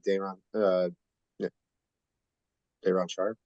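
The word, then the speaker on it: Day'Ron Sharpe: We have the picks, we have the wing, we have Cam Thomas, we have Dayron Sharp.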